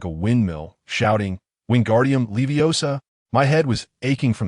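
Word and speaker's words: Wingardium Leviosa: like a windmill, shouting, "Wingardium leiosa." My head was aching from the noise. So I quickly reminded him, "Dude, you need to stretch that gar out and make sure to pronounce OSA clearly.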